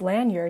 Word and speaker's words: lanyard: disjointed lanyard contraption or lanyard because apparently it's pronounced lanyard even though it's spelled land yard but go